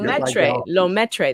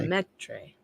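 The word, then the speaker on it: Lemaître: He was the first to theorize the recession of Lemaitre. That's how it's said. Okay. Lemaitre.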